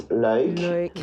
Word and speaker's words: Luik: Yeah, the Flemish version is Luik, and the German version